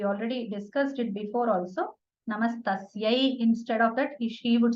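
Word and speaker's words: नमस्तस्यै: Namastasyai, instead of that, she would say Namastasmai.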